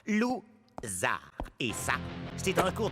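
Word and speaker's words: Lou Zarr: Mon nom se prononce Zar. Lou-Zar.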